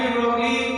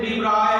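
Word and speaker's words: de Broglie: Actually डी ब्रोगली पढ़ते हैं हम, प्रोनाउंसिएशन डी ब्रॉय है.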